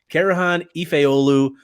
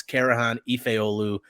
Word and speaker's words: Karahan Efeoglu: commitment from Turkish forward carohan ifeolu I think the g is silent other people think it's a hard G I don't buy the